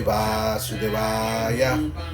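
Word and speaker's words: वासुदेवाय: A veces uno en los templos Hare Krishna no pronuncian bien, cantan Om Namo Bhagavate Vasudevaya. No, tienen que saber pronunciar Om Namo Bhagavate Vasudevaya. Entonces siempre hay que acentuar las dos As. Om Namo Bhagavate Vasudevaya, ¿no? Esa sería la pronunciación correcta.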